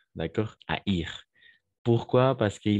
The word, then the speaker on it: haïr: Donc, oui, en effet, la combinaison A et I, on prononce comme E, comme souhaiter, n'est-ce pas? Mais dans ces cas-là, c'est le verbe haïr. Donc, on va prononcer le I. Haïr comme maïs. Anaï et haïr.